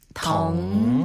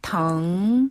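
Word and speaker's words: 疼: 중국어로 아프다라는 표현은 덩이라고 해요. 덩. 예. 아래에서 위로 부드럽게 덩 덩네 아픈 부위 그 글자 뒤에다가 덩자를 붙이면 어디가 아프다 이런 표현이 되거든요.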